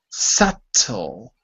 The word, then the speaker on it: subtle: silent try again Babu subtle subtle photo that's it the B is silent in word number two okay everyone very good